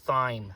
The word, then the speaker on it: thyme: It's pronounced thyme.